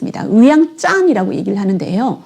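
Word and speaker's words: ວຽງຈັນ: Laos is Vientiane However, the locals do not say Vientiane They refer to it as Wiang Chan Wiang Chan and Vientiane are quite different, right?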